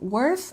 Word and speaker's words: worth: And here we have worth, again with the TH sound, worth, worth.